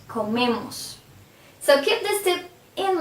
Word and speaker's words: comemos: If I say nosotros comemos, if you see, the stress is in me, the syllable before the ending, comemos.